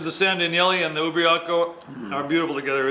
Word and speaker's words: Ubriaco: Ubriaco.